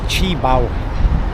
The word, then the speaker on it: Qibao: So, so I did get the name wrong. It's Chibo. Chea.